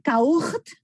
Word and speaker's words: caught: Acuérdense que aunque se escribe caught, pues no todo, there are silent words. Entonces es caught, ¿ok? Es esa O invertida, abierta, caught, ¿ok?